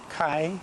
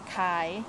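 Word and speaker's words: ขาย: house for sale sale Kai how do you say and how do you say that kai Kai you see there's a tone to that if you could see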